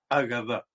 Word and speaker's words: Agadá: de leer la Torá, que se llama en hebreo Agadá. No Hagadá como la Hagadá de Pesaj, que empieza con una letra Hei, sino Agadá con Alef.